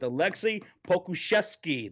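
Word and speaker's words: Aleksej Pokuševski: only 18 years old from serbia going with alexi pokuszewski that's how you say his name okay i'm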